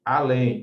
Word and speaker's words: além: Se você separar corretamente essas palavras aqui, ó, francês, país, além e aliás, contando de trás para frente, o acento está sempre na primeira sílaba.